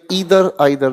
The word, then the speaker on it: ईदर: आप इसे प्रोनाउंस करें ईदर आइदर, दोनों प्रोनाउंसिएशन ठीक है।